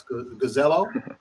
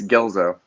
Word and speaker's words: Gelzo: That's Gazello. Oh, that's a new one. It's Gelzo. I've Gelzo, heard everything under the sun, though.